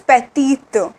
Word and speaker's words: petite: like this okay and this pronunciation is petty this is petty and this is petite okay we add an e